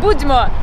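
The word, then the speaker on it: Будьмо: Budźmo.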